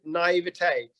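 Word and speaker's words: naïveté: is the which is naive naivete which is the right way but I say naivetivity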